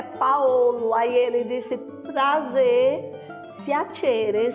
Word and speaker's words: Paolo: Paulo em italiano se escreve P-A-O-L-O.